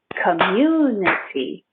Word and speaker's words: community: we will practice together so the word community community three syllables community four syllables i can't count communic four syllables community think of the word you you you you or just say the letter you commune short it community community community community